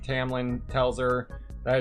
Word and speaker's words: Tamlin: If you slap an accent on it, then Tamlin could be pronounced Tomlin. I've seen people who do castings, or like they totally act out entire scenes of the books. Even with an accent, it does not come out Tomlin.